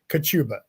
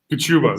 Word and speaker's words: Kachuba: Okay, Kachuba. Kachuba. There we go. John Kachuba. I knew I butchered that.